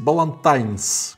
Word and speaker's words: Ballantine's: Джордж Балантайн, и поэтому надо произносить Балантайнс, как бы так, потому что всегда все говорят Балантайс, Балантайс, просто хорошо, да, как Буна Хама, Буна и ладно.